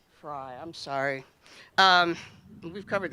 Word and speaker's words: Frey: I'm now going to introduce our very special speaker, Attorney General Erin Frey Fry. Excuse me. I knew I'd do that because if I look at it, I say it wrong. Fry, I'm sorry.